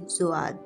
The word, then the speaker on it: Jawad: a cyclonic storm named jawad the name of this cyclonic storm is given by saudi arabia and the pronunciation of the word is actually zuad this is a quranic